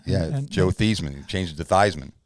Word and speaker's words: Theismann: It was pronounced Theismann. Yeah, Joe Theismann. He changed it to Theismann. Because it rhymed with Heisman, so he he'd have did a better chance.